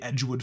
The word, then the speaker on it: Edgewood: his nephew out of Englewood Farm Rivers fun fact that's one of the words I mispronounced it's actually Edgewood Farm still can't help but